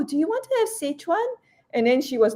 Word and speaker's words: Sichuan: pr pronounce it as sichuan and and and I think it's actually well it depends if you're pronouncing in Cantonese or you're pronouncing it in Mandarin.